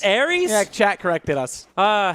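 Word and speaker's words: Ares: I mean, after how bad we butchered Greek mythology, both of us. Hey, I didn't butcher corrected you. It's Aries. It's Aries.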